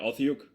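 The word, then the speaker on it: otyugh: creature in there is called an atyach how's my pronunciation dm yeah authyuk lothyuk it's a grotesque bulbous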